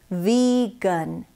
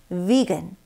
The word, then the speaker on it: vegan: 한국어로도 뭐 비건이라고 하는데 영어에서는 vegan, vegan, vegan 이렇게 발음하셔야 됩니다.